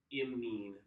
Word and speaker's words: imine: So the way that I like to pronounce them to distinguish is amine, imine. I feel like I really put emphasis on the imine.